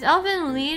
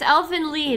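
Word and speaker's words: Elfen Lied: is elf and lead. If you want to say the correct pronunciation, Germans get excited if you say it the correct way for the first time. Okay, it's elf and lead.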